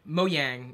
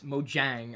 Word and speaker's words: Mojang: came up with uh moyang or I guess it's Mojang I've heard it pronounced both ways um Minecraft they changed